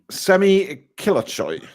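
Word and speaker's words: Semih Kılıçsoy: Semih Kilicsoy.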